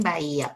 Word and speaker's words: Bahía: A ver, si yo te digo Bahía, ¿qué pasa en Bahía, por ejemplo? En Bahía, mi separo va y a. Tengo 3 sílabas. Ya, entonces, entre la primera I y la primera A hay un hiato acentuado. Perfecto. Y entre la I y la segunda A hay otro hiato acentuado.